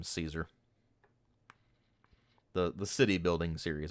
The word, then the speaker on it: Caesar: refer to as Caesar the technical pronunciation is more along the lines of quar kesar but uh I I call the game Caesar the the city building